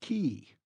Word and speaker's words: cay: "At least pronounce it correctly, Scotty. K is pronounced key."